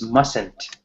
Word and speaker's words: mustn't: sense my scent yeah that tea in must actually isn't really pronounced right we we almost skipped that tea when we are doing the pronunciation so mustn't mesentery you